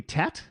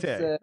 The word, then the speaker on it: TÉTÉ: And speaking of that, so the new album, am I pronouncing it correctly? Tet? Like tête-à-tête? Is that, am I, no? Off? Okay. Well, it's not a word, but it's TÉTÉ. And TÉTÉ.